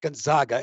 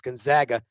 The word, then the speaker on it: Gonzaga: will charles brockley still not be able to pronounce the name of the school correctly it's not gonzaga it's gonzaga and the prop there is yes he he